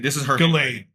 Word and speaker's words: Ghislaine: Ghislaine, not Giselle. Giselle. Sorry, Ghislaine.